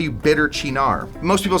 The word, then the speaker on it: Cynar: there's two ways yeah you probably say Cena I say sin oh both both wrong chinar potatoes potato yes for